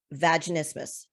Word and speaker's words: vaginismus: One of the things we were talking about in the break that we're going to get right into is vaginismus.